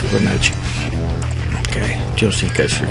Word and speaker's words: Fibonacci: And it's called the Fibonacci, or Fibonacci, or Fibonacci, not sure how you pronounce it. The Fibonacci sequence. Okay, I know in Italian it would be pronounced Fibonacci.